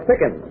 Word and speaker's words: Pickins: This is Miss Lola Pickins. Rhymes with chicken.